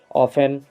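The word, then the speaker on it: often: ऑफेन, सॉफेन, तो इन सब में हम टी को नहीं बोले हैं।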